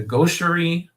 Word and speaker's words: gaucherie: So chapter 7 has the name The Gaucherie of Virtue. I'm not sure if I'm pronouncing that word right, but gauche, I've heard